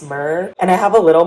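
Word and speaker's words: Miir: also the brand like m-i-i-r i believe it's pronounced just mer and i have a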